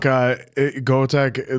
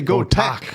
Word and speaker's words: Go Tak: There's no E. You gotta say go tak.